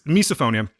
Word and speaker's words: misophonia: me sir all right be good yourselves so misophonia I want to make sure that I was saying it correctly it's misophonia it says hatred of sound I know someone